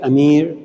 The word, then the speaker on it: Amir: And they can't pronounce my name the right way, Amir. So we just go Mir.